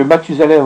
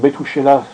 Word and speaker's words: Mathusalem: à 930 ans, que Mathusalem ou Methushélah, selon la façon dont on prononce son nom, est mort à 960